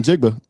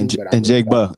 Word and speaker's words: Njigba: I mean, you talking about Njigba?